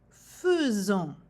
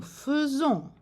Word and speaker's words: faisons: Nous avons ici la combinaison des lettres AI, mais il faut prononcer faisons. AI dans ce mot a le son E. Nous faisons.